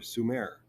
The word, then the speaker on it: Sumer: Well, Alice Cooper is mispronouncing it. It's "School's Out for Sumer."